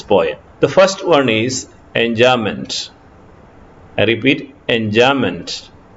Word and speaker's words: enjambment: The first one is enjambment. I repeat, enjambment. The spelling is given there, but the pronunciation is enjambment.